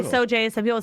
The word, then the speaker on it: Sauget: the you say morning, Sauget? How do you pronounce the town? I say so. I get Seriously? yeah. No, it's Soj. It's so really yeah.